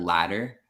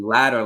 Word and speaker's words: ladder: even if the letters were D's, for Mhm. example, the word ladder, Yeah. the pronunciation's the same. Like if you think about former and latter, so basically the first and the second, Yeah. latter is written with T's, Yeah. and then ladder, like a scala, is written with D, but the Yeah. pronunciation is the same.